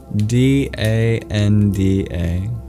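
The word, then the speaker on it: daṇḍa: This is spelled d a n d a danda. But the middle N and D are retroflex. So you curl your tongue back.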